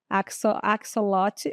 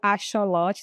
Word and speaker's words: axolotl: ela tem então o superpoder da axolotl ou axolotl, tem essas 2 pronúncias, tá pessoal?